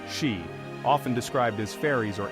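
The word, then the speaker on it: sídhe: There existed a race of supernatural beings known as the Cid, pronounced she, often described as fairies or elves, who dwelt in mounds, hills, and other liminal places.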